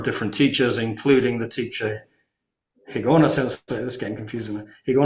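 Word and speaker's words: Higaonna: the using the higashi it's the same character just the way you pronounce it uh so uh but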